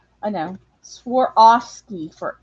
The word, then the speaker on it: Swarovski: Swarovski.